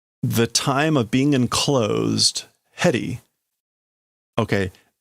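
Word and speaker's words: 縁: That's why in the domain, the time of being enclosed, heri. Okay, that is not the normal pronunciation for that kanji. It's usually fuchi.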